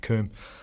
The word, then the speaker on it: cwm: you're reading about Everest this word cwm it's actually pronounced Kum and it's this kind